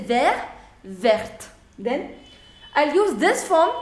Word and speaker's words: vert: say ver version s pronunciation will not change so this and this pronunciation would be same ver ver vert vert okay now fourth is